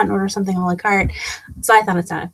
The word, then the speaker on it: Carte: And it actually, the simple reason is because I wanted to find a word that rhymes with art. And so I thought carte.